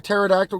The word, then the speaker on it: pterodactyl: can't you hear a pterodactyl go to the bathroom because the p is silent too many of these